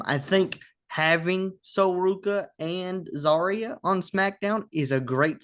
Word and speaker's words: Zarya: Um Zarya.